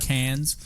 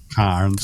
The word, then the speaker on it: Cairns: I know you've been working with us in the destination in Australia for a while, but it's not Cairns, it's Cairns. There is a silent R.